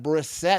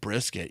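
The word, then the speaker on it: Brissett: Uh so uh so uh we had Briset. I was saying his name wrong the whole time. I think I was saying Brisket, you know what I mean?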